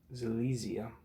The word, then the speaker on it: Silesia: Alright, so now that I know how to pronounce that, it's Silesia.